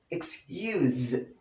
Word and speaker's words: excuse: there's a slight difference as a verb here instead of at the end of the pronunciation you pronounce it with z excuse excuse could you excuse